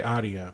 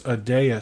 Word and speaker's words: Adeya: uh uh uh adeya i always wanna say adia because that's how it's spelled but it's adeya security and then i am also